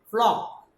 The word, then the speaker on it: flock: And C and K together, these C and K both together are called K, are pronounced K. Flock.